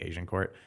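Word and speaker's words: Agincourt: In Toronto, one of the most Asian areas it is called Asian Court, but it's not. It's spelled AGIN, Asian Court, but it's obviously sounds like Asian Court.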